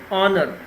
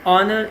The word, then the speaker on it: honor: action showed courage and honor so in honor it would be silent sentence number three call